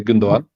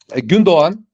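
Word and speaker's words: Gündoğan: didn't replace gundan that's that's the way you say his name by the way gundan you don't say the second G but uh gundan and mahes they didn't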